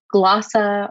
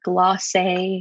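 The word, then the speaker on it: glosa: this next poem is a glossa or a glossier depending on how you pronounce it and where you are in the world it's an old spanish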